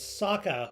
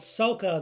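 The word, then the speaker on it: Sokka: kiyoshi Admiral Zhao and Saka who I called Soca the whole time in the last video I pronounced that wrong but with that being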